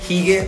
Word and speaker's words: hygge: Se escribe hygge, pero se dice hygge.